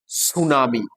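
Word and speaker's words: tsunami: ঠিক তেমনি পি টি ও এল ই এম ওয়াই উচ্চারণ কি টলেমি কিন্তু পিটা সাইলেন্ট যেমন আবার বলছি টি এস ইউ এন এ এম আই সুনামি এভাবে কিছু কিছু বর্ণ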